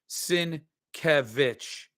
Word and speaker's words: Sienkiewicz: Sienkiewicz is pronounced Sienkiewicz, FYI.